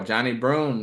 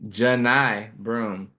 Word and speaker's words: Johni Broome: So next on my list, 34, Johnny Broome, the 6'10" forward from Auburn. Excuse me, Johni Broome. It's spelled like Johnny, but it's Johni.